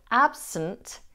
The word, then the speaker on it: absent: The second vowel in the word absent is pronounced as a schwa. So we have absent rather than absent.